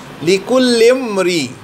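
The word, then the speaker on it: لِكُلِّ امْرِئٍ: হলো মানুষ, লিকুল্লে প্রত্যেক, এই আলিপটা উচ্চারিত হইতে হবে না, এই জন্য যে আলিপ এখানে এই হামজাতুল আসল, এই আলিপটা সাইলেন্ট হয়ে যাবে, লিকুল্লিমরি, লিকুল্লিমরি অর্থাৎ প্রত্যেকটা মানুষের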